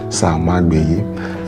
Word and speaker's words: Samagbeye: So you not pronounce it anyhow. Samagbeye.